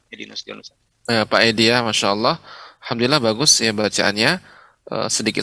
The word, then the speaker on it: Allah: inaco telah Iwa Khair untuk pengucapan Allah ya lebih ini termasuk ucapan ketika mengucapkan Allah tebal ya tapi ya vakuola